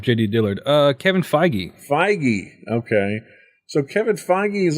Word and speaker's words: Feige: determined and that's a kevin how do you pronounce his name i was looking up jd dillard uh kevin feige feige okay so kevin feige is also getting his